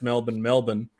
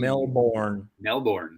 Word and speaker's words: Melbourne: We pronounce Melbourne. You guys probably pronounce it Melbourne.